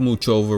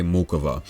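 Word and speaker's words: Muchová: the pronunciation right so instead of much over we're gonna say mukova listen now she's taking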